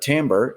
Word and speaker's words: timbre: But timbre, yes, I'm pronouncing it correctly and I spelled it correctly.